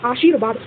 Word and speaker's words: आशीर्वाद: जैसे कि आशीर्वाद तो श के बाद र का उच्चारण हो रहा है।